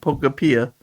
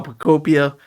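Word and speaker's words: Pokopia: I always say it wrong the first time because I always read it and I just go, "Oh, Pokeapia." But no, Piccopia, it's really fun.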